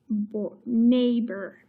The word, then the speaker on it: neighbor: so this word is neighbor now let me show you a trick here so this e i g h is actually one vowel sound it says the long a sound